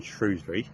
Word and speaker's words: Shrewsbury: So I know I'm in Shrewsbury. Have I pronounced that right? Yeah.